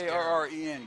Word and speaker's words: Garin: Is it Garin? I think it is Garren. Garin Carter. You are correct, Mr. Smith.